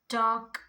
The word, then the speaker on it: talk: This all words L is silent. Now next we have palm, walk, chalk, folk, talk, calf, calm, balm, then almond.